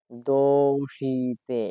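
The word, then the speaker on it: どうして: পরিচিত হব সেটা হচ্ছে দোষিতে এবার আমি লিখলাম কি দোষিতে দোষিতে মানে কি কেন এইবার দেখেন আমি কিন্তু উচ্চারণ করতেছি দোষিতে লিখেছি দোষিতে কিন্তু এটা হবে কি এটা হবে হচ্ছে দোষ তে আপনাদের বোঝার স্বার্থে আমি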